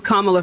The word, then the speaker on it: Kamala: feel like Shea Amanda it's Kamala first of all and also why